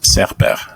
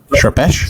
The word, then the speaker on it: Serper: everywhere yeah yeah and the last name is correctly pronounced serper uh I actually learned because it's a Turkish last name so I learned oh is it wrong am I right recently like months ago I learned it it's actually pronounced in the Turkish pronunciation it's uh uh surpash yeah so how would